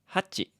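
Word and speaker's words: 八: And then 7 also has 2 different ways of being pronounced. There's nana Na. Na. Na. and shichi. Shi. Chi. Shichi. 8 is hachi.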